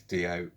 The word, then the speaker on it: Dio: guy dio he couldn't he didn't pronounce d.o white i was like okay wayne it's d.o and he gave me